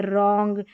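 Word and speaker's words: wrong: यहां पर डब्ल्यू आर को र पढ़ना है। रॉन्ग डब्ल्यू साइलेंट है।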